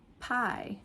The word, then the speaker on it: pie: Or in some other words, it just sounds like the I. For example, pie that you eat. Pie. P I E. That E is like it's not even there.